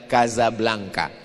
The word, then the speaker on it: Casablanca: Tulisannya Casablanca. Cara bacanya Kazablanka.